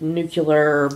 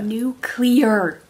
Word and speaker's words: nuclear: like this new kid nucular bomb a nuclear clear just look at how you spell it and the houses is